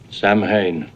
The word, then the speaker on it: Samhain: Actually, Dr. Loomis, it's pronounced Samhain. I know what it looks like, but I'm serious, they pronounce it...